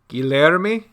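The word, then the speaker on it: Guilherme: correctly guillermo what guillermo that's how you pronounce it in portuguese at least guillerme one thing i've always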